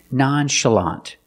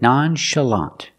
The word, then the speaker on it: nonchalant: like Shu and show this word comes from French that's why we pronounce the CH with the sh sound again nonchalant the second syllable is